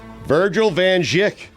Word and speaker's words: Virgil van Dijk: Virgil Van Dijk.